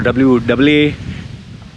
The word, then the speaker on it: Wasta: Okay, there's a magic word in UAE called Wasta, WASTAA, or WAASTAA. See how I WAASTAA. That's an Indian, or my way of saying it. You ask a Brit, W, how do you say? WAISTAI.